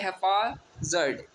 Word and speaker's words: haphazard: अगला है हैफाजर्ड, HAPHAZARD।